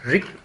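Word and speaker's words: རིགས: and now Dön Rik means, Rik here means the type. This Rik have last letter Sa, which you don't pronounce.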